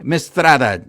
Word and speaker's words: Mistretta: joining us is contributor to clutch points Joey mistrada did I pronounce that correctly Joey that's correct yeah it's